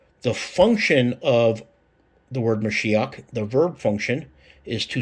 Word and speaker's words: Mashiach: But using 2357 Victor, and we know the pronunciation of 4886 in the Strong's Concordance is Mashiach, right? Or Mashiach, which is also the word for the word Messiah.